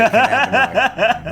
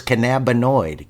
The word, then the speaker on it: cannabinoid: I think you just like that word because it has more than 4 syllables. Bro, it always makes me sound smarter whenever I say cannabinoid.